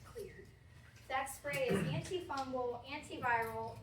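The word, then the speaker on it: Xlear: But I put the clear nasal spray on here because that spray, it starts with an X, but it's pronounced clear.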